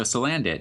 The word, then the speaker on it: Salandit: That was revealed on Thursday morning, which was Salandit, something like that. I think it's supposed to be like Salamander and Bandit. Oh, so Salandit.